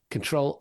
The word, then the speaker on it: Ctrl: net um that's Ctrl as it's spelled on your keyboard control Aid delete.